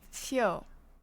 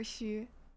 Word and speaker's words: 宿: And originally in the olden times, the third word is pronounced xiu, but now it's pronounced xiu or xu.